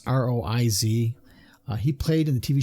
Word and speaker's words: Roiz: Hal was voiced by an actor by the name of Sasha, and I'm gonna probably pronounce the last name wrong, but I'm gonna say Roiz. It's Roiz.